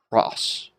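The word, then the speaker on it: πρός: P makes what type of sound? P, p. Rho is sort of an R sound. Omicron sigma, you know, so pros. Pros. And it is one syllable because it is one vowel or diphthong.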